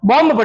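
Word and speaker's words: bomb: बी ओ एम बी। इसको हम क्या पढ़ते हैं? बम पढ़ लेते हैं। क्या पढ़ लेते हैं? बॉम्ब जगह बम नहीं है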